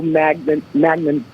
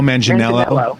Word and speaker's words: Manganiello: It's like Idris Elba, Joe Magnan. How do you say his name? Joe Manganiello.